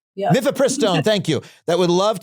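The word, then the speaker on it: mifepristone: You're going to pronounce it correctly. Methristone.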